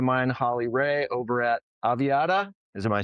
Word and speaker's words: Aviata: with friend of mine, Holly Ray, over at Aviata. Is am I saying it right? Yep. Aviata.